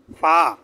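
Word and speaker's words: فاء: এবং নিচের ঠোঁটের পেট সামনের উপরে 2 দাঁতের আগার সাথে লাগিয়ে ফা।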